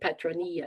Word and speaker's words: Petronilla: It's ILLA, but I think Petronilla is how you say it.